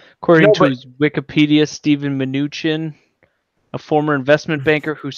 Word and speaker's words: Mnuchin: I don't know how you pronounce his last name. Mnuchin? Steve Mnuchin? Mnuchin, there you go.